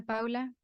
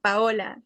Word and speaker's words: Paola: Paula, I don't know how to pronounce that. Paula Present. Okay, present. Carla Liliana Teacher. Sánchez. Ujú. My name is Paola.